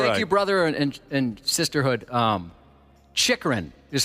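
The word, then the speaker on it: Chychrun: Chikrin is how you pronounce that player's Oh, last that name.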